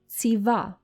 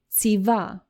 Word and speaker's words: ציווה: It may be a little bit difficult to pronounce because you don't really have a word in English that starts with this ц sound. You have words like pizza or cats. So you do have this sound, ц, but now try to say this sound at the beginning of the word.